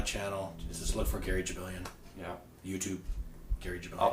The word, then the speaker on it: Jibilian: Jabilian is spelled Jibilian. Yep. Okay. JRJ thinks your name is pronounced Jibilian. Jibilian. I ain't Jibilian.